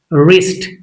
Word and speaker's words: wrist: Wrist W is silent.